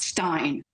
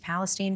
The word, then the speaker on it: Palestine: name of the town it's East Palestine not Stein you know Tammy President Biden announced this week that he will soon visit East Palestine for the first time